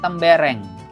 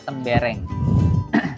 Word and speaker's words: tembereng: sedikit lagi selanjutnya ada tembereng namanya seneng bacanya tembereng ya mbereng bukan tembereng Mungkin ada yang nge-like sembarang tapi ini kita nyebutnya tembereng eh tembereng itu bentuknya